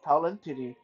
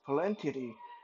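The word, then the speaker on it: Pallantides: I'm not quite sure how it's supposed to be pronounced. I think it's Palantidi, because it has a kind of a Greek pronunciation to it.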